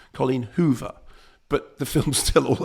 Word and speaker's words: Colleen Hoover: Also Colleen Hoover, not Colleen Hoove, Colleen Hoover.